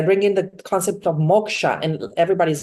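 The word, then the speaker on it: moksha: my trainings I bring in the concept of Moka and everybody's like what sorry I said Moka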